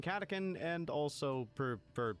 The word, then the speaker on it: Catachan: Like fun fact, I actually do know it's pronounced Catachan. I just prefer saying Catachan and also prefer saying it that way because it makes people annoyed.